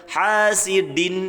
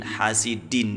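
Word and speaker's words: حاسد: pangkal gigi seri atas kalau ada yang baca hasidin ini juga salah ya terlalu tinggi itu ya lidahnya ucul lidahnya terlalu ketinggian ke langit-langit gitu ya tanda bacanya Din hasidin ya jadi ujung lidahnya disentuhkan ke Pangkal gigi seri atas sama dengan tak Bo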